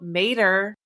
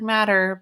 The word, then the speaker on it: Matter: Mysteries it stars Nile Mater even though his last name looks like matter but it's not it's Mater like the truck I've beening wrong for